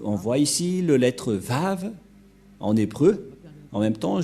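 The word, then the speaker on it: ו: l'année moins 200 que la lecture du lettre W ce n'est pas W ou ou mais c'est bien V la bonne lecture la bonne prononciation pour eux et personne ne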